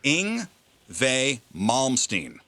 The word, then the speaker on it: Yngwie Malmsteen: WV, the German pronunciation of the W is insane. Because it's YNGWIE MALMSTEEN.